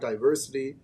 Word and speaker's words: Diverscity: s c Ty y so it's like diversity or diverse City and then the clothing